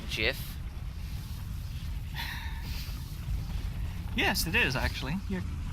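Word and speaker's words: GIF: the challengers I'm just imager endured whatever it's pronounced jiff yes it is actually you're correct no well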